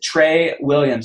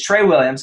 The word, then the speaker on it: Tra Williams: no so th this gentleman his name is Trey Williams now you might have been thinking how is that Trey because it's doesn't spell Trey it spells TR R A but it's Trey Williams okay I pronounced it wrong I'm glad he